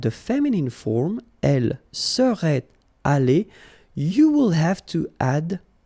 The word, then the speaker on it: allée: Okay, so elle serait allée, okay? But then phonetically it doesn't exist, all right? So it's aller here and then aller here, the way you pronounce it.